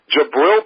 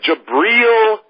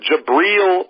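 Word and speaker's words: Jabrill: funny they just are jabel peppers I'm sorry jabriel peppers I I'll finally pronounce his name right jabriel Peppers is Big 10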